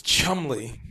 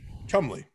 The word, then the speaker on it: Cholmondeley: often an early question it's chumly chumley okay final letters yeah okay i almost said every syllable of your name and i would have